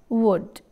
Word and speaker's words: would: vowel sound here again l is silent we never say volt it is wood and o and u